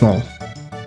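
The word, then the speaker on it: Marle: I think it's pronounced Marl. Marl. It's Marl.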